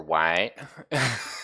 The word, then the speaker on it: Waite Hill: and it is to Waite Hill. And you can pronounce it Wait or White, if you're a country folk, although we're in the northern states.